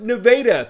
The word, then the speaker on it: Nevada: Nevada High School, yes, that's pronounced Nevada.